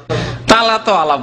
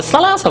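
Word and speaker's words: ثلاثة: তাদা আলাফ বললো না, তালাতো আলাফ বলছেন, তালাতো আলাফ তো জাহিল মূর্খরা বলে, একজন আলেম কি করে তালাতা বলবে, সালাসা বলে, সা সা বলে, সার যে উচ্চারণ আছে মাখরাজ সেইভাবে বলবে, কেমন করে তালাতো আলাফ বুঝাবেন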